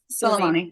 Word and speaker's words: Soleimani: And then sources came out that the killing of Soleimani. You can fix my pronunciation. Uh-huh. Soleimani.